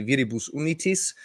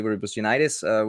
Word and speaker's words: Viribus Unitis: Has I personally was really diving into the I'm gonna mispronounce it Viribus Unitis Uh, album. Good enough. Like we would say with the Austrian or the German pronunciation, we would say Viribus Unitis, but I guess with